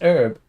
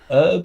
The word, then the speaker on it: herb: Um, the interesting thing is herb and herb. Herb is arguably more correct uh because I think it's derived from French where the h is not pronounced.